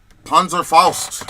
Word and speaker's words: Panzerfaust: How do you pronounce this, babe? What's it? Panzerfaust.